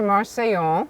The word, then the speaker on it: Marseille: joie de vivre in France, and now to Marseille. Did I pronounce that correctly?